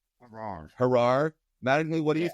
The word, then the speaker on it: Haarer: know it's not too hard I just um I just say har like par easy for golf guys memorize I think that way so yeah so just har just har All right